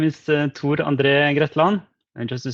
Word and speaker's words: Tor: talking with him, that he does not pronounce his name Thor, which, as any studious American being taught Norwegian pronunciation by Marvel, I called him Thor for a long time. But he says his name somewhat differently.